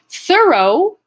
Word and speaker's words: thorough: while i'm streaming um thorough has the ough in it too but it's not in uh ah and it's not a oh it's an o sound so thorough let's just